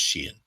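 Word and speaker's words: Xi'an: That's how it's pronounced, just Sheehan.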